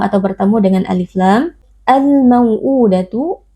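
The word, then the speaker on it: الْمَوْءُودَةُ: Al-mau'udatu alif lam al-qamariyah, karena ada alif lam yang bertemu dengan salah satu huruf qamariyah yaitu huruf mim. Cara membacanya alif lam dibaca dengan izhar atau dengan jelas.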